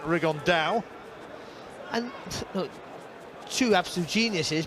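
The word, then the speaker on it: Rigondeaux: about fighting rigondo or as he's correctly pronounced with the spanish accent rig on dao and look two absolute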